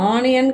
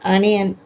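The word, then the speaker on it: onion: அடுத்தது ஓ எ ஐ ஓ எ இது ஆனியன் கிடையாது அனியன் கயூ கம்பர் அனியன் அடுத்தது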